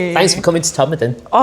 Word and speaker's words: Todmorden: So Todd like everybody will like sometimes if you're not from it people go Todd Morton.